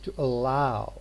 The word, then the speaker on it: allow: is uh and stressed but here we say to allow it's the second one which is stressed so in the case